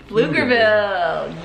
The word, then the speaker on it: Pflugerville: I know the P is silent. It has to be silent. Yeah. Pflugerville. Flugger, but if it was Flugger, it'd have two G's. Is that like a thing? Yeah. Pflugerville.